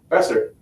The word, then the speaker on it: Besser: Besser.